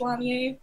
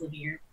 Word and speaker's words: Lanier: Yeah, then my last name I guess is technically French, so it would be pronounced Lanier, but it's pronounced Lanier over here.